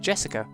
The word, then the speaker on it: Jessica: Anyway, that is pronounced Jessica.